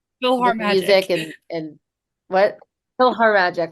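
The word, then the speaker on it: PhilharMagic: I always say it wrong, but I know it's like Philharmonic, but it's Philhar Magic, but I always say Feel Our Magic.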